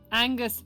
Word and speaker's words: Aoinghious: However, Angus is indeed canonically spelt AOINGHIOUS. Angus. Oingios. Angus. Gotta say it like Goofy.